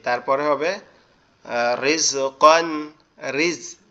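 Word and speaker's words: رِزْقًا: জি, তারপরে হবে রিজকান, রিজ, কিন্তু এখানে রটা কিন্তু মোটা হবে না, রিজ এরকম হবে না, রিস রিজকান, রিসকান, কান না কন, ক দন্তান ন ওয়ান, কন। কন, জি, এরকম কন, হবে, রিসওয়ান, এরকম ক রিজাকন, রিসওয়ান, দন্তান ন কন, রিজকান, রিসওয়ান, রিজকান রিজকান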